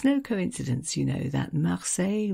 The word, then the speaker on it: Marseille: It's no coincidence, you know, that Marseille rhymes with soleil, because this is one